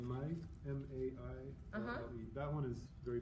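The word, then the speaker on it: Maille: I mean, the one you can buy here is called Mai, M-A-I-L-L-E. That one is very popular in France, Oh, nice. Okay. and you can find How do you it. spell it again? M-A-I-L-L-E. Mai.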